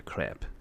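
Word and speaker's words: crêpe: And I usually take craps into the toilet. Yes, or it's a gambling game. Well, that would be a crap, not a crepe.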